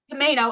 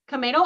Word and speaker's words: Camano: in uh Shelley help Camino Island Camino I always say it wrong Camano Island in uh north of